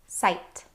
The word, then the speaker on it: sight: There are lots of words that have this IGH pattern in them, and they all make a long I sound. Some examples are Sight.